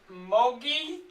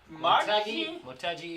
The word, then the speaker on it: Motegi: Twin Ring Mogi? Motegi, yeah.